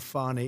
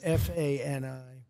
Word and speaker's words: Fani: She goes by the name of Fani, even though it's F-A-N-I. She wants to pronounce Fani.